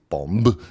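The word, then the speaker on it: Bombe: That device was called Bomb, pronounced bomb, if I understand the phonetic spelling correctly.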